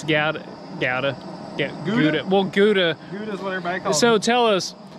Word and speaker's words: Gouda: it's some other word, but it's spelt with a G, and we've always said Gouda. Kellie and I have said it for years, and then our friend Rusty told us that it's actually howdah.